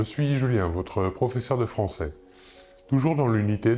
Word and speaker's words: français: Nous voyons ici la différence de prononciation. Nous prononçons le S final et nous ajoutons à l'écrit le E.